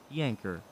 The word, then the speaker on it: yanker: my username is actually yanker j-a-n-k-e-r yanker not janker not janker yanker okay that's how you say it we'll clear that